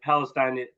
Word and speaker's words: Palestine: I pronounce it Palestine.